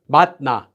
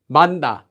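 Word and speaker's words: 맛나: Just like, so we change it to mat. Now we have matna, manna, manna, manna.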